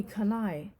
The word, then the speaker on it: Kanai: can i call me kanai can i he was quick to correct her when she stumbled over the pronunciation say it to rhyme with hawaii can i yes that's